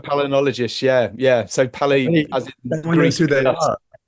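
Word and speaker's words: palynologist: And these are the guys that are called if I'm pronouncing it right palo palnol palologists. Yeah, that's right. palinologist.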